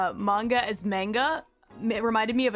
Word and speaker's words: manga: And I remember back then I kept pronouncing it manga when I would talk to her, and she'd kind of whip around and be like, it's manga.